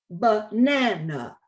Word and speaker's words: banana: identical as in banana but in english because the stress fault on the middle syllable the first and the third sounds become schwas as in banana next slide and as